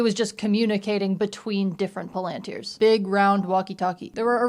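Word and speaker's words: palantír: I'm always inclined to pronounce it palanteer cuz there's an accent on this eye, but in the movie, Gandalf says palanteer. So, I guess we're going with that.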